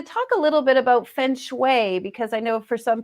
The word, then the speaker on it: feng shui: pronounced many ways and uh thank you for pronouncing it correctly feng shui um really it's very very simple it's it's